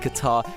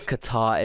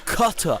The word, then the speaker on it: Qatar: Americans are so misled about Qatar. It's insane. First of all, they pronounce it as cutter.